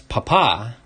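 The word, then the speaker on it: papá: big daddy but um in spanish papa doesn't mean father that's papa with the accent on the second a but if you just say papa you're actually saying potato so they're calling him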